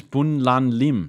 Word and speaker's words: Bun Lan Lim: But her name is Bun Lan Lim, not Lin.